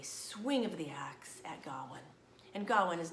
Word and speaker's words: Gawain: bigger version of it told me mom this is probably his name is pronounced Godwin dhawan and the Green Knight so we're changing it to Godwin okay now before I